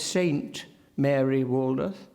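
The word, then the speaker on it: Saint Mary Woolnoth: It matters for me that he says Saint Mary Waldoth, not as I would St. Mary, Saint Mary. That is, there's a feeling that something is strongly pronounced.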